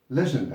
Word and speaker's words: legend: Now, by the way, I probably know why you said legend, Ahmed.